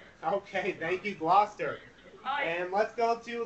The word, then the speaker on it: Gloucester: never pronounce it correctly i kept pronouncing it chester and it's gloucester let's go to gloucester new jersey high school okay thank you gloucester hi and let's go